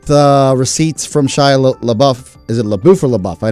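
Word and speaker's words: LaBeouf: the buff is pronounced la buff it means in in french it means the beef the beef yeah and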